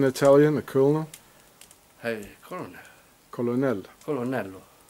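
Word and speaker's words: colonnello: say this in Italian a Col colon Colonel colonello colonello colon colon so what what do you what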